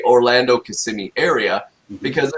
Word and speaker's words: Kissimmee: to start with kissimmee so that's how you pronounce it everybody kissimmee uh i i hear a lot of people from different places right walt that say uh yeah kisaimai kissamai i was definitely one of them that couldn't pronounce it when i first saw it i was like uh oh i'm definitely not pronouncing this one right i i i used to say kissing me so yeah right so